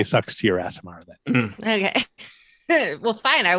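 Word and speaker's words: Aasimar: Is it an Asimar? Okay, because I figured there was no way I was going to say ass, but apparently I am.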